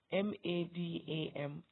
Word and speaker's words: madam: The stress in the word M-A-D-A-M is madam, so the stress is on the first syllable.